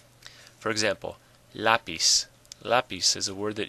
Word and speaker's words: lápiz: Now it ends in a Z, not an N or an S, so the stress should be on the last syllable.